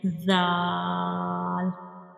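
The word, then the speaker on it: ذال: And zal is actually a soft letter. When we pronounce zal, you make sure whistle sound does not come, because this is a soft letter and we read it softly like zal, zal.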